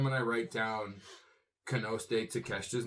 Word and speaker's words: Takeshita: It's kind of weird because every time when I write down Konosuke Takeshita's name, his last name it's spelled like Takeshita, but it's Takeshita.